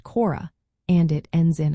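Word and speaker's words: χώρα: For example, the word for land or country is chiomegaro alpha, pronounced chora, and it ends in a.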